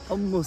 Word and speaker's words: hummus: Hummus. Say it right with the ha. Hummus. You see, even me, an Israeli, I'm struggling with saying hummus. You're Ashkenaz, that's why. Yemeni would say ha.